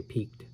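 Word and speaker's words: piqued: my curiosity piped peaked excuse me is that how you pronounce it p i q u e d I'm gonna say peaked I contacted one of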